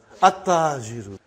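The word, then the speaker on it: التاجر: How will you pronounce this now? At-tajiru. You did not pronounce lam. Okay, you did not pronounce, you skipped it.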